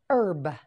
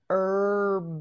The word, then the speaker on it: herb: it again hen correct herb herb B Herb in this word the H is silent say it again with